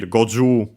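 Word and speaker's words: 五十: But yeah, also, but yeah, that's what was to mention, that for, in our example here, Goju 50, but yeah, still a T, so the tens accent on the Ju, combined with Nana, and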